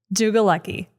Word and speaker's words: Dlugolecki: Jugal lucky.